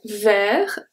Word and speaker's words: vert: So here, vert, I pronounce V, I pronounce the E as the E, we'll see that. And then I pronounce the R. Vert. So the T and the S are silent.